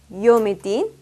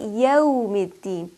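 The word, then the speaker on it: يوم الدين: So for example, I will make sure that I won't say Maliki Yawmiddin, where I couldn't hear the waw very clearly, nor do I make it heavy. I have to say Maliki Yawmiddin, Yawmiddin. So the waw is given its distinct quality of lean. It's pronounced softly, sweetly, and clearly.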